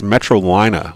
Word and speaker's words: Metrolina: pronouncing their name wrong it's metrolina like carolina oh metro i did